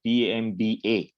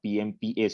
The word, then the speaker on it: Pamba: called as Pamba River, Pamba, not Pmpa. Sometimes it is called as Pmba also. In the southern accent, sometimes the pronunciation gets changed.